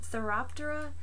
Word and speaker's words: Phthiraptera: as their hosts so therap Dora the pH I always pronounce it with the pH silence therap Dora is its name be sure you can